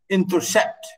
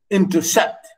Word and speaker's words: intercept: Two unstressed syllables followed by a stressed syllable. Like here, for example, intercept. Notice, intercept.